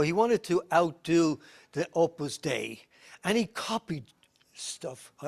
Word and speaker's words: Opus Dei: People have know more about the Opus Dei, that's the proper way to say it, it's Latin, please, the work of God.